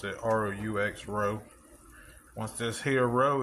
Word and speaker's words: roux: Me and my boo-boo cooking gumbo tonight, and the first step is making the roux. I think that's how you pronounce it. R-O-U-X, roux.